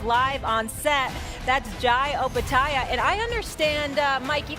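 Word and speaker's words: Opetaia: And we cleared things up because everyone pronounces your name wrong, and we're just going to get it on the record. Opataya. Opataya, that's correct.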